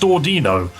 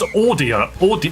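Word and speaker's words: Audino: I've just realized it's not pronounced Ordino. It's pronounced Orino. Ordino because it's supposed to be similar to audio.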